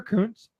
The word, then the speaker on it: Kuntz: And then Heather Kuntz, that's how you say it, right? Yep. She was the one.